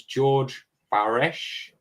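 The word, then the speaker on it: Georg Baresch: Um, it first confirmed owner was George Bares, that's how you say his name, in 1585, an alchemist from Prague who discovered it taking up space uselessly in his library.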